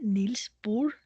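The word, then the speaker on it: Bohr: Neil bore was Danish his name would be pronounced Neil bore he was only a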